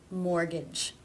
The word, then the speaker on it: mortgage: There are some words that are just written with a silent T. For example, Christmas, whistle, mortgage. These unfortunately just need to be learned.